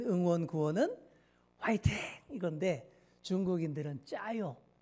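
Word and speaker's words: 加油: 그래서 가유 가유 있데 중국식 발음으로 짜요 이렇게 발음을 하는 것이죠 자 그래서 기름을 더하라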